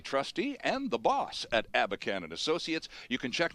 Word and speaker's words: Abakhan: matter of fact as are his colleagues at abacan and Associates our guest in studio Nicole Clark who is a counselor and George abacan who is a trustee and the boss at abacan and Associates you can check them out online